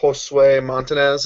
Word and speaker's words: Josue Montanez: Their pitching staff, their starter Josue Montanez, is that how we say his name, Seth? That is correct.